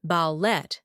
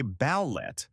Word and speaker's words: ballet: American English tends to stress the final syllable, And British English often stresses the first. The classic is ballet. I say ballet. and I say ballet, How about garage?